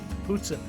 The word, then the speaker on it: poutine: We ended up, for an appetizer, we ended up having more poutine, or as we learned while we were in the restaurant, it's actually pronounced poutine. And that's how they pronounce it in Canada.